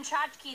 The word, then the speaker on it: tchotchke: There's another C-H, a ch, and then a K-E that says key. Which it never would. K-E in any other word. Bike, it's not like bike key. But in tchotchke, the K-E says key.